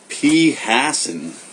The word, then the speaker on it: phassin: phassin. That is insane. I had no idea that that is how you pronounce it. For some reason, I was reading it phassin the whole time.